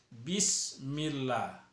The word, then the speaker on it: bismillah: bahas adalah kalimat Bismillahirrohmanirrohim banyak orang membaca kalimat Bismillahirrohmanirrohim yang bacaannya BE nya itu dibaca base jadi itu Swag sebuah kesalahan yang besar jangan base Eh tapi kita harus berbunyi i ya bismillah Bismillahirrohmanirrohim kemudian Hai kalimat